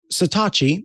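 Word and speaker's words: Satechi: all of those at the same time so satachi and yes that is how it's pronounced um finally answered my my Call to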